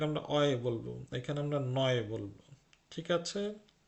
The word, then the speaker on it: neu: উচ্চারণটা শুনুন, লক্ষ্য করুন, আমি কিন্তু নিউ বলছি না, আমি নয় বলছি। মানে জার্মানিতে সবসময় ইউ এর উচ্চারণ অয় হবে।